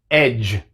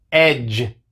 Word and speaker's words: edge: Así que vemos que en estas palabras tenemos la D seguida por la G, pero solamente hace el sonido de la G. La D es muda.